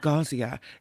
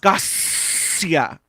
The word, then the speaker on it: Garcia: ear from the director, Garcia wants you to know it's not Gazia, it's Gus, like a snake. Garcia. I was like, what? It's what? It's Garcia. You have to really pronounce that S.